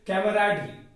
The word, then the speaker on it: camaraderie: तो पहला वर्ड है दोस्तों कैमेराडरी, CAMARADERIE, जो कैटेगरी से नाउन है और इसका उच्चारण होता है दोस्तों कैमेराडरी।